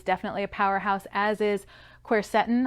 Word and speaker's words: quercetin: a powerhouse as is quercetin I've also heard that pronounced corset in tomato tomahto I guess now this particular supplement